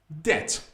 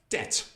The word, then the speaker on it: debt: No. B is silent. Debt. Debt. No B. Debt.